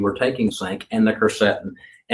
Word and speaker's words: quercetin: So it is called, now, some people call it quercetin. I say quercetin. Okay. And then I have a friend who says quercetin. Okay. So I can pronounce quercetin.